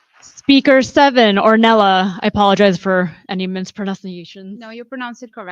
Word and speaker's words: Ornella: Speaker seven, Ornella. I apologize for any misprononunciations. No, you pronounced it correctly.